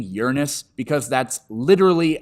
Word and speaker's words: Uranus: of Earth and for the record I'm saying Uranus because that's literally how you pronounce it Uranus is a lie we all believe like that